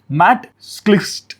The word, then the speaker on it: Matt Schlicht: It was founded by Matt Schlicht. His name can be tricky to pronounce. It's Matt Schlicht.